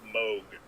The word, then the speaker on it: Moog: It looks like it's Moog, but the guy's name was Dr. Robert Moog. That's how he pronounced his own last name.